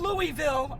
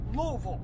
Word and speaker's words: Louisville: Not Louisville, Al, Brian, Louisville.